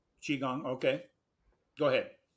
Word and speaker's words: Qigong: do you pronounce that Qigong Qigong okay go ahead um the pronunciation I'm sorry the spelling c-h-i g-o-n-g helps to understand how to pronounce it I think okay um if